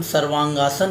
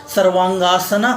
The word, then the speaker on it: सर्वांगासन: सर्वांगासन, जो कि हम लोग बहुत बार अंग्रेजी में हम लोग इसका उच्चारण थोड़ा अलग ढंग से करते हैं, सर्वांगासना कहते हैं, लेकिन ये शुद्ध जो शब्द है वो संस्कृत का है और इसका शुद्ध उच्चारण है सर्वांगासन।